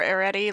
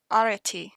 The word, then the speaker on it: Arete: Arete is, by the way, an Americanized pronunciation of the Greek name. I can do this. Arete. Arete. Arete. I tried. I made this easy alternative pronunciation for people like me who can't trill to save their lives. The Greek letter rho, there R, it has a bit of a trill to it, I think.